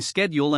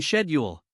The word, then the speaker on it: schedule: language is spoken example the pronunciation of schedule differs between American and British English with American saying schedule and the British saying schedule grammar grammar the system